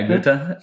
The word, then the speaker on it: Goethe: Well, you probably can pronounce that one right. Van Goethe? Yeah, Goethe.